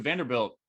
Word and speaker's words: Vanderbilt: distinguished gates at, Vanderbilt, where everybody pronounces it with a long A, right? And I was walking into the department. First person I met was finishing his PhD there at Vanderbilt in philosophy, but he